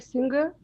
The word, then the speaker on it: singer: singer you're saying singer no no no G sound okay don't say GG but say singer singer you were very